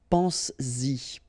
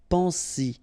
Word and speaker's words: pense-y: But then if you put this Y, so this pronoun after, then you will have to put back this S just to produce it orally, because you will pronounce it pense-y, pense-y, okay?